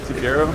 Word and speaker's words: Cefiro: I get the Cefiro.